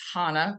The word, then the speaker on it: Hannah: My name is Hannah, rhymes with Donna, not banana.